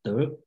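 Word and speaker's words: 德: Same word, and then they all remember Tao Te Ching in Chinese word, if you recognize Chinese word called De, okay, the pronunciation is De.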